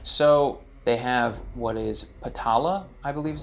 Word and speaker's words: Patala: So they have what is Patala, I believe is how it's pronounced, and it's considered to be super beautiful with gems, smells, groves, and music.